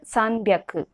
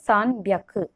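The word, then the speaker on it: 三百: This hyaku use will be applied for everywhere, but only this red highlighted place, the pronunciation will change. For 300, sanbyaku. For 600, ropyaku. For 800, hapyaku. For remaining, it is hyaku.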